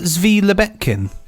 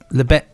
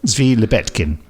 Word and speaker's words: Zvi Lebetkin: Wasn't it Zvi Lebetkin? Yes, what did I say? Levick, I think. Did I? Sorry, Zvi, I got your name wrong. Zvi Lebetkin.